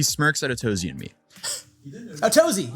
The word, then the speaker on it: Tozy: Tozy. Yeah, he said that. Tozy. We've been saying it right.